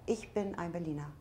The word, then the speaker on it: Ich bin ein Berliner: I've heard that phrase, the Ich bin ein Berliner, is not It's correct. Ich bin ein Berliner. That's how you say it.